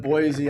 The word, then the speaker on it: Boise: says producing agent in boise idaho you say boise differently i'm gonna say boise you say it wrong c wow whatever there's no z in boys c uh christina has